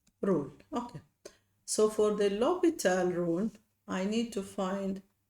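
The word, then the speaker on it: L'Hôpital: It's a French mathematician. The h is silent. Loal rule. Okay. So for the loital rule I need to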